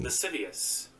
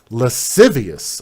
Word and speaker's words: lascivious: See if I can get Google to pronounce it for me. Lascivious. Lascivious.